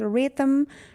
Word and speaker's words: rhythm: Rhythm, H is silent.